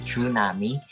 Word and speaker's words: tsunami: The word tsunami, pronounced tsunami, is composed of the Japanese words tsu, which means harbor, and nami, which means wave.